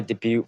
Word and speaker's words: debut: start with ring my debut photo and debut debut photo that's a t is silent if carrots don't belong